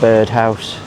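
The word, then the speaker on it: Byrd House: um a place called it's spelled b yr d house but it's bird house nice place have um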